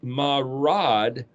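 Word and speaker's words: מרד: But the word mem resh dalet is pronounced marad, and that's a word in Hebrew that means rebellious and criminal, trespassers.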